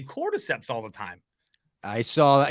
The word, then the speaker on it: cordyceps: it right even have to Google how to spell it I knew everything I was like cordyceps cap cordyceps I got it don't worry about